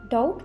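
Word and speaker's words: doubt: शक ना करो डोंट डाउट मी डोंट डाउट मी डाउट में भी साइलेंट हो जाएगा तो हम बोलेंगे डाउट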